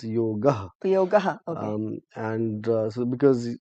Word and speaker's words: yoga: and in Sanskrit the last uh, consonant is completely voiced Okay. along with the vowel, so it's yoga.